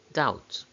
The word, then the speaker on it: doubt: example double doubt dublin which of these has a silent b doubt now pause the video